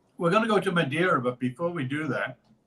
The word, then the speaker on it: Madeira: EI, like Leiria or Aveiro or Madeira. EI, is that the right way to say that? Madeira, yes.